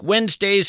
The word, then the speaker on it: Wednesday: If you're in fact scribbling this down, Wednesday is kind of tough to spell. It's not like it sounds. You want to spell it W-E-N-Z, but that, of course, would be a mistake.